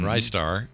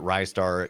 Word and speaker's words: Ristar: big online discussion about is it rystar because uh or is it ristar and how do you say it uh I've I've seen a bunch of people say a bunch of different ways yeah uh and I I prefer Rye star uh and it seems